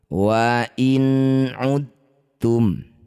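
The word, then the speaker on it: وإن عدتم: Dal sukun bertemu ta. Dua huruf yang sejenis bertemu. Ini disebut bacaan namanya idgham mutajannisain. Cara bacanya bunyi dal masukkan pada huruf ta. dengan menghilangkan sifat qalqalah dari dal. Jadi dalnya tidak usah dipantulkan.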